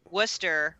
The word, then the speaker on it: Worcester: yeah i say pop but we also say worcester when it's spelt w-o-r-c-e-s-t-e-r yeah looks like worcester but it's